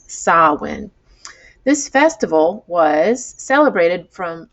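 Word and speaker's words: Samhain: saul sawin okay salwin it looks like sam hayne but if you look at the pronunciation it says sawin this festival was celebrated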